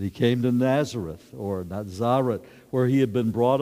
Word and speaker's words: Nazareth: and Jesus referred to we would say Nazareth but in the air' day they had this sense through scholarly interpretation that it would be pronounced not Zara not Zara and so Jesus went